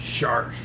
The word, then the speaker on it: Sharsh: She said you have to say it like a pirate. So it's Sharsh.